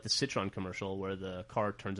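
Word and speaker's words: Citroën: he I know he did the like the Citron commercial where the car turns into a transport. Sorry. How do you pronounce that? Citron. Catron. Okay. How do you pronounce it? Citroen.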